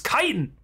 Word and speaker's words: chitin: sweatsical saying it every why do so many people just call it Shin are you serious it's chitin are you [ __